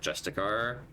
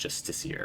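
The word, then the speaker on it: justiciar: So um specifically for Asterion he's currently wearing the dark justicar or rather it's I think it's pronounced justiceier right dark justiceier half plate.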